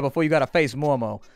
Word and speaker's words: MORMO: I'm going to call her MORMO from now on because I'm going to make it a short O, even though I know that's not how it's said. It's MORMO. Like a sheep.